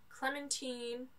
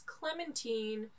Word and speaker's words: Clementine: this is all about clementine sorry i said it wrong the first time it's clementine lady clementine this is a